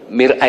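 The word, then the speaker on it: مرآة: Mir'ah itu cermin, nggih, cermin. Kalau mar'ah itu orang perempuan, ya. Jadi bacanya jangan keliru ya. Kalau dibaca idza nadhara fil mar'ah, apabila melihat perempuan, jangan. Ya, yang benar idza nadhara fil mir'ah.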